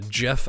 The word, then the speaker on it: GIF: And it's like, it's pronounced GIF actually. The creator came out and even said that, and it just cuts